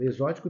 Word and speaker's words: exótico: de s tá e exótico exótico tem um som também de Z Ok então também não